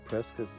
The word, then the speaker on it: Prescott: The campground is located in the Prescott National Forest. I know it's spelled Prescott, but that's the way the locals pronounce it.